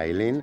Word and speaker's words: Eileen: Si scrive Eileen, si pronuncia Eileen.